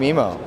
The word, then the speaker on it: Memo: here is the ZTE grand mimo or memo depending on how you'd like to pronounce it now initial reports did